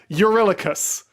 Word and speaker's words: Eurylochus: You really cussed. Eurylochus.